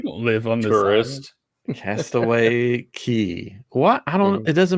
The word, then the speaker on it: Castaway Cay: is a big question is it cast it's spelled Cast Away K yeah but it's Cast Away key why why because it's